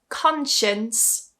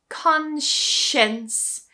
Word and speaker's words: conscience: Conscience. Consience. So you see this time it's not cons or anything like that, but conscience.